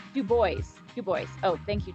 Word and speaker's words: Dubois: away from yellowstone uh another dubois the locals say it this way do boys you boys oh thank